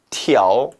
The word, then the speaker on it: 调: 따라서 이 글자 역시 조절하다, 调, 바꾸다, 调 로 발음이 되는 포인트, 또인즈가 됨에 주의하시기 바랍니다.